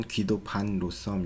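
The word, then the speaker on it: Guido van Rossum: 사이에서 사용되는 표기 이고 원래 네덜란드도 발음으로는 히 더 판 로쉬 이미지 많은 2006년에 그 구글 테크 토기 라는 강연에서 자신을 귀도 판 로스 덤이라고 소개를 하기도 했습니다 그는 이 창 5년도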